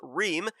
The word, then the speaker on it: Ream: I was doing Ream, I was doing Rhyme, but finally find out the correct answer, or the correct pronunciation is Ream, as he ended up